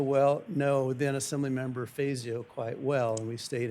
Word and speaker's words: Fazio: referred to as the Fasio water, right? Um, it's not the traditional Italian pronunciation, Fazio, but it's named after Vic Fasio, former Democratic congressman.